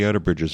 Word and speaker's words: Outerbridge: for a word to be fawn aesthetic, it should have 3 syllables, Okay. Okay. and the accents have to be right. You can't have the accent on the end. It can't be Outerbridge, No, that wouldn't work.